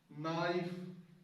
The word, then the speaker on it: knife: was almost always the letter K is almost always silent when it is when it comes before when it is before and in at the beginning of the world knife no the Silent not